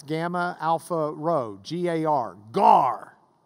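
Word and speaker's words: γάρ: Not the fish, but it's spelled the same way. It's gamma, alpha, rho, G-A-R, gar.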